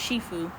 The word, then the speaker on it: Shifu: I was like, Fushi is not right, it's Shifu.